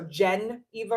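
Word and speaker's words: Jeneva: Geneva spelled with a J. So Jen Eva Rose.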